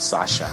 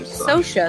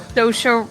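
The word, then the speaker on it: Saoirse: her cheek youg Sasha it's not Sasha it's like Soha Soha s I'm Irish so I'm say SOA this is this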